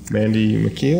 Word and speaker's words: Mandy McKeel: We have Lynn Clough, right, and Cindy Hessel, Mandy McKeel, is that how you pronounce it? Yes, and Jeff Hartman.